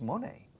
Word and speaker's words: money: Rima con gracioso. Funny.